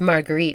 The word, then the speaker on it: Marguerite: but in France like her name is Margaret but it's margarite in France he's erule and the